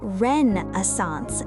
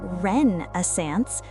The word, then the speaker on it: Renaissance: Marcus interrupted loudly, "It's Renaissance, not Renaissance. If you're going to present, at least get the pronunciation right."